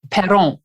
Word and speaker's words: Perron: And I wanted to correct the last name because if you're Canadian, it is pronounced Perron, right? 100%. Yes. Yeah. We've Americanized it. That's all right. Sometimes the Perron, it's hard to pronounce,